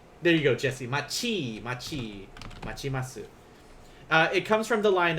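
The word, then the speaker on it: 待ちます: Like if you put this T here, it's still going to be pronounced as chi instead. So machimasu.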